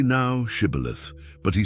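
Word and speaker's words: shibboleth: Then they said to him, "Say now, Shibith." But he said, "Caleith," for he could not pronounce it correctly.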